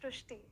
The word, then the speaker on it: Shrishti: So in Marathi, the word re is pronounced as ru. So that is why the pronunciation goes Shrishti.